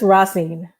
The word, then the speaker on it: Racine: Is it Racine or Racine? Or am I way off? That's Racine. That's Racine. Racine?